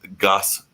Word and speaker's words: Goss: some great comedy so brad goss rhymes with boss was one of our